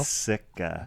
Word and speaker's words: Sika: You got to say it like you're not like like I'm wearing right now. Sika. Sika. No tea. No tea.